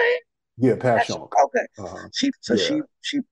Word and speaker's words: Passyunk: Yeah, Passyunk.